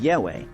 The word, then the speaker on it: Yahweh: The actual pronunciation YHWH was lost thousands of years ago. Today it is sometimes pronounced as Yahweh. But that was just one theory.